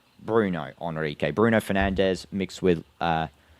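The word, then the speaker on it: Bruno Henrique: My bad if I said his name wrong. It's Bruno Hrique.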